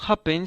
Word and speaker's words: happen: sílaba y en cambio happen se acentúa en la primera sílaba entonces cuando la última